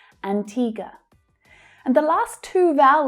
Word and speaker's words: Antigua: Antigua, Antigua. The second syllable is the stressed syllable in the first word. It's the long E sound. Antigua.